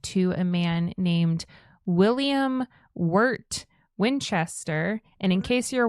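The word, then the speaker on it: Wirt: Uh, so she lived there and she was married in Connecticut to a man named William Wart Winchester. And in case you're wondering how Wart is spelled, definitely am.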